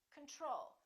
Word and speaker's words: control: we say control or do we say control we say control second syllable is stressed the first o is reduced repeat after me control